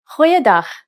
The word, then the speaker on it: goeiedag: G. Try pronouncing it from the back of your throat.